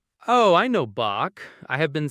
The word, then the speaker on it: Bach: It sounds like you are very gently clearing your throat. Not a big dramatic throat clear, just a soft friction sound at the very back like this. Bach.